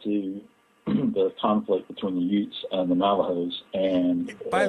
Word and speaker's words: Ute: listen to that and they think you're from Brooklyn and you're talking about Utes. I'm serious. Ute is spelled U-T-E.